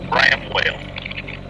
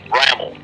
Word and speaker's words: Bramwell: The way this town looks like it should be pronounced is Bramwell, but locals drop the W and it's pronounced Bramwell.